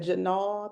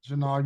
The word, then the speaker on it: Janal: Is that Janal? I think I'm pronouncing that name. Janal, you pronounced it correctly.